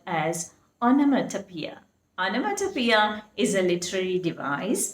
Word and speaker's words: onomatopoeia: It should be pronounced as onomatopoeia.